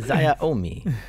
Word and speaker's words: Xiaomi: This isn't the pronunciation cast. Xiaomi.